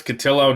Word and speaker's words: Cotillo: Catillo, not CIO as much as the section 10 people want you to think. Otherwise, I keep hearing both. I I it's just it's not both. It rhymes with pillow.